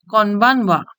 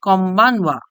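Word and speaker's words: こんばんは: বিকালবেলায় আমরা বলবো কনবানওয়া, গুড ইভিনিং। কনবানওয়া, কনবানওয়া। কনবানওয়াকে আরেকভাবে উচ্চারণ করা যায় কমবানওয়া।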